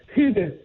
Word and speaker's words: Hygge: Just explain, and I'm going to pronounce this wrong, Hygge? Hygge.